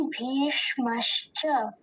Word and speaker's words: भीष्मश्च: जो अंतिम भाग है मश्च, इसका हम मतलब हमें ध्यान देना है कि जो शकार है वो आधा है और उसी के साथ में चकार जुड़ा है, तो हम उसका उच्चारण मश्च करेंगे। उसे हम शकार को पूरा नहीं बनाएंगे, मश्च। तो एक बार पूरे शब्द का उच्चारण देखते हैं, भवान भीष्मश्च, भवान भीष्मश्च।